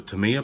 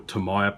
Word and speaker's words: Tamiya: that it's got a tamiya plug or tamaya plug depends how you want to pronounce it always pronounce it tamiya you see you've got